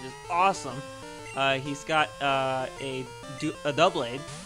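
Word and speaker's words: Doublade: He's got a double blade. I always call it dual blade, but it's spelled D-O-U. Everyone does it. Yeah, because it's not like I figure it's duo as in two, but it's double as in two.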